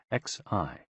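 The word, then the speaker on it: 嘻: HOO, pronounced like hu, which is associated with the spleen, and XI, pronounced like shi, which connects the whole body.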